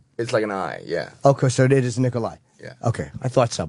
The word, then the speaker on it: Nikolaj: No, it's kind of an H-y sound. Nikolai.